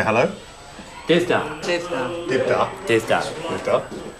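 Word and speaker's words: Dydh da: Divda.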